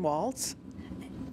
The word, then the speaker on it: Waltz: Waltz. And could you spell that for us, please? W-A-L-T-Z, like the dance.